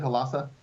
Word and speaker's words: Halassa: Halassa?